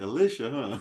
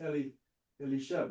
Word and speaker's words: Elisha: Elisha. Yeah. El Elish. Yeah. That kind of looks like Alicia, huh? No, it's Elisha.